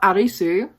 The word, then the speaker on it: Arisu: was really funny how arisu who is the main character who is a guy that is the Japanese pronunciation of Alice and I just really